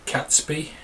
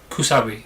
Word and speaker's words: Kusabi: Sei, as well as the, if I can pronounce it right, the Katsbi, or no, Kusabi, the Kusabi spirit as well, who was a previous sacrifice.